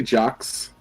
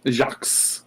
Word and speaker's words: Jacques: sorry oh my gosh jacques how many does your name have an s why is it never mind my name has the silent q-u-e-s basically all the pronunciation is j-a-c that was a mispronunciation